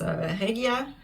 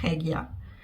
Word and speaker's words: Regia: Schachenmeier is the brand that makes Regia. And the German pronunciation would be Regia. I think a lot of people say Regia in English.